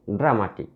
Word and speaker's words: dramatic: Look at the word dramatic. This word ends in IC. So we should stress on the second syllable. Dra, one is one syllable. Ma, the second syllable. Tik, third syllable. Ma.